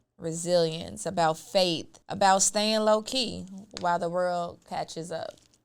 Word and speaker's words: LoKei: I'm like, "Boom, low-key." And I decided to spell it a little different. Instead of a Y, I have a I. So, K E I, L O K E I.